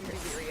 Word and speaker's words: Riri: We've been typing it only because we're still working remotely, so saying Riri out loud that's how you pronounce it, by the way.